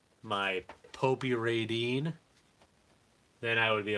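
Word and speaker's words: Popy: And by the way, I just learned that it's pronounced Popey. Somebody corrected me at the toy show. I said Poppy, and they were just like, "Oh, you're an idiot."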